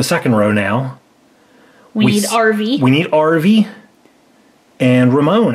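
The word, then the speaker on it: Arvy: So this is RV. RV. But it's spelled A-R-V-Y instead of RV.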